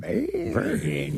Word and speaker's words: Bane: I think that Bane, you have to say his name like that.